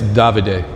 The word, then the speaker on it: Davide: And it's Davide, for the record, Tukuli. That's how they say it in Murano.